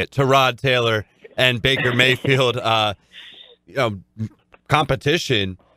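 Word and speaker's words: Tyrod: to rod right that's how you say it to rod Taylor and Baker Mayfield competition when are when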